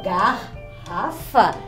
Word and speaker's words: garrafa: garrafa vocês viram como quando eu digo ó garrafa um fica com g e outro fica com a então fica garrafa por